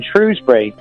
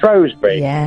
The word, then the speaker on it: Shrewsbury: I wanted to I wanted to open a debate regarding names cuz I used to live in Shrewsbury. Sure. Or as a lot of people who pretend they know the place called it Shrosbury.